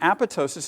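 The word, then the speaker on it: apoptosis: importantly it's pronounced tosis with a silent p and the reason this process is important these were a group of Pathologists that made very important discoveries by looking at tissue sections and apotosis is well suited to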